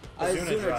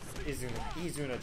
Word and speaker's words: Izuna: Izuna drop. Izuna drop. Izuna. It's Japanese. They pronounce it E.